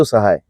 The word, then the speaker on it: Sahai: say hi. हाँ, तो because सह इज सिमिलर टू से हाय, तो वो एकदम सेम प्रोनाउंसिएशन सेम हो जाता है, से हाय। इफ you will say quickly it will sound much closer to Sahai.